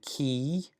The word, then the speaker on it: chi: And then key, and that's the German CH, and ach, ach. You can kind of hear that ach, the kind of the CH sound. But that's pronounced key.